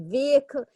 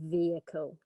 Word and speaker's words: vehicle: Yeah, there's actually 2 possible ways. So the I you can kind of pronounce or not. So it could be vehicle or vehicle. I would pronounce it with 3. Yeah. So vehicle is probably the best way to pronounce it.